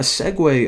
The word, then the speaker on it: segue: to whenever they click the button now a segue of course that's how you pronounce that word actually didn't even know I